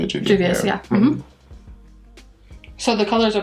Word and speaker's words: Juvia's: Juvia's, yeah.